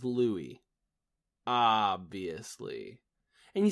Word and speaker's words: Louis: you first of all I think you pronounced it Louie Armstrong yeah ya think that yeah I think that's right I don't think it's Louis Armstrong Louis Armstrong's my accountant okay Louie Armstrong his name is Louie obviously and you said